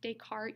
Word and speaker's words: Descartes: is Descartes rule of signs and that is pronounced Descartes you don't pronounce the SS so he is